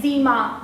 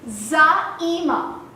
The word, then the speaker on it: Zaeema: So I have been called by hilarious names like Zima, Zamina, and very recently, as in University. But the actual pronunciation of my name is Zaima, and it means a leader.